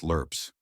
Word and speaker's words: LRRPs: These men were part of a secretive force known as the longrange reconnaissance patrols, or LRPS, pronounced lurps.